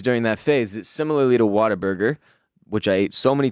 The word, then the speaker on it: Whataburger: quick tangent do it how do you pronounce the fast food chain w-h-a-t-a-b-u-r-g-e-r whataburger are you saying water burger i'm saying what i just said whataburger is there an r